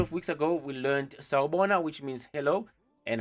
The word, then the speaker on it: Sawubona: Na, if you want to say it correctly and you don't want to sound like you silly or trying to, force it. You want to have the correct accent. Sawubona. As you can see below here, I've indicated for you the pronunciation of this word.